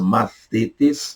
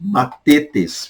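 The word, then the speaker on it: μαθητής: Mathetes, a pronúncia é essa, mathetes, aqui pronuncia matetes. Fique à vontade para você pronunciar como quiser, mathetes ou matetes, ok?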